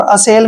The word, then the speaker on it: assay: Next word देखिए ASSAY, ए का उच्चारण हम ए करते हैं, डबल एस को से पढ़ते हैं, और ए वाई को ए की मात्रा पढ़ेंगे। असे, असे होता है दोस्तों